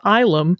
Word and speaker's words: Ylem: quickly, what I said at the top, that Ylem can also be pronounced Ylem.